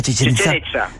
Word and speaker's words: Chichén Itzá: ¿Cómo se pronuncia? Chichén Itzá. Chichén Itzá.